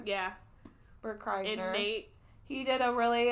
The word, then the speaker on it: Kreischer: stand out with Burt how do you say his last name Chrysler yeah Bert Kreischer Nate he did a